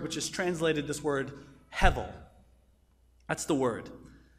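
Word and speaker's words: הבל: is translated this word Hevel that's the word that's not how it's spelled because that's English but it's the word Hevel it's used 37 times in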